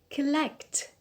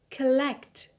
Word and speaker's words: collect: syllable is on e collect collect the stress is on the second syllable it is on elect capital capital so the